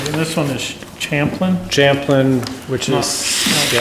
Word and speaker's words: Champlin: Right, and this one is Champlin? Champlin, which No, is. no, yeah. Champlain. Oh, there you go. Champlin, Yeah. thank you. How do you spell it? CHAMPLIN. Missing the A in Champlain.